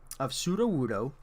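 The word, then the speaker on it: Sudowoodo: It's the pre-Evo of Pseudo-Wudo. Pseudo as in false. Wudo as in wood.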